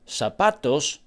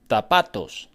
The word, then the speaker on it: zapatos: Instead of zapatos, shoes, they would often say zapatos, zapatos.